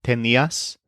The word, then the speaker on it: tenías: First of all, the imperfect forms all stress the syllable ni. So, I had is tenía. He, she, it, or usted had is also tenía. You had is tenías.